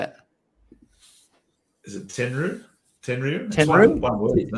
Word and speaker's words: Tenryu: If anyone can phonetically sound out that name, Tenryu.